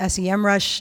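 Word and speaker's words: SEMrush: in here know what some rush is okay again I'm told it's SEM rush different pronunciations it's kind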